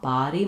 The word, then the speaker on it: body: So between buddy and body, a body, my jaw is more open, my tongue is more pushed down.